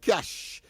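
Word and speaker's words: cache: Uh cash.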